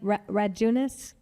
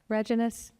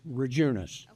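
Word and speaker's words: Radjunas: Usually what I say is the D is silent. You think of the month of June, it's Rejunas.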